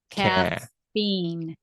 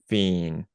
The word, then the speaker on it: caffeine: So kind of break it between the F's.